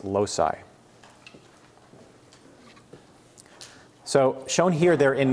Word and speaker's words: loci: plural of locus is loc I and that's pronounced low sigh people want to say loci it's low sigh so shown here there